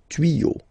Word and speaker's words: tuyaux: Des tuyaux. Same rule. You don't pronounce it.